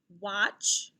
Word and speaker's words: watch: echo these words and listen for a vowel sound that they all have in common okay wasp watch wand wasp watch wand what vowel sound do you hear in these words very good i hear ah sound like a short o sound let's look at these